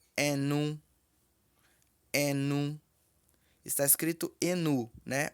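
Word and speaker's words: ẹnu: Boca pronuncia-se enu.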